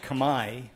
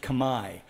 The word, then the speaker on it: Khmer: which by the way in cambodia is pronounced kamai it's spelled like you are familiar with khmer spelling khmer but it's pronounced kamai so when you hear